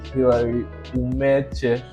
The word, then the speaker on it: Hilary Umeche: Sort of, but that's Yeah, tell me the correct so pronunciation. it's actually Hilary Umeche. Okay. Yeah, but that's kind of complex for people. So Umeche is fine. Okay, Hilary Umeche.